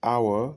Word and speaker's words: hour: Tu n'entends pas de H, n'est-ce pas?